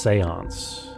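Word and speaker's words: séance: See the I didn't get that cuz it's it's pronounced seance.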